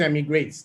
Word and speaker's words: Emigr8: What is Emigrate? And we are still trying to make up our mind how to pronounce this. Most people that pronounce it say e-migrate, but we've been pronouncing it internally Emigrate.